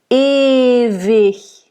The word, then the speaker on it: ewig: So when there's an I and a G at the end of a word, it makes the G that soft CH. Okay? Ewig. So nice voiced V, not W like in English. E, nice closed E at the beginning. Ewig. The I is open and short, and the H, again, it's the soft CH.